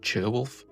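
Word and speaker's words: Ceolwulf: by the name of Cerwulf. It may be pronounced Cherwulf, but palatalization becomes less common the farther north that you go, so I will refer to him as Cerwulf for now.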